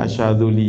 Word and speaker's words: Asy-Syadzuli: Bacanya Asy-Syadzuli ya.